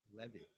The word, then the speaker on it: Levy: Levy purchases monachello and after his name it said in parentheses le- ve Levy and then Jefferson Levy